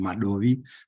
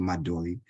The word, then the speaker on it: Madovi: I know depending on who you are and how you pronounce it, some people pronounce it Madovi, but the correct pronunciation is actually Madovi.